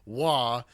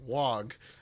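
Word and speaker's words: Waaagh: I will point out, they pronounce it "wah" and not "wog."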